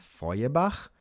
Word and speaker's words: Feuerbach: They are pronounced Nietzsche and Feuerbach.